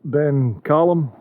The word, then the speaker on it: Ben Challum: And the other peak that you see there, that peak there is Ben Callum, it's spelled Challum.